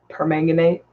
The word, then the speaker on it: permanganate: potassium permanganate permanganate Sal that's pronounced permanganate Barbara says I think